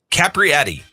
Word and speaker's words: Capriati: Jennifer Capriati. I think I said it right. Capriati, yeah.